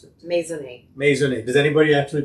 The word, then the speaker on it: Maisonet: So, how do you how should I pronounce it? Mason. Mason. Does anybody actually pronounce it that way for you here? No. Here in Texas is Masonette.